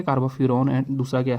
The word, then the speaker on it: carbofuran: ठीक है, तो पहला स्ट्रक्चर है आपके पास कार्बोफ्यूरॉन का, कार्बोफ्यूरॉन जनरली हम ऐसे जो है उसको प्रोनाउंस कर देते हैं, कार्बोफ्यूरॉन।